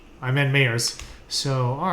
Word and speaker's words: Mayers: It's Meyers. Yeah. That's cool. It's spelled M-Y-E-R-S or M-A-Y? M-A-Y. Okay, yeah, no. Yeah. Like everybody says Myers, but it's actually Meyers.